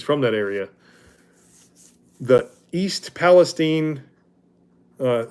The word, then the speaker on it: Palestine: that area the East Palestine uh I think it's p called pronounced Palestine because it's not Palestine um the train wreck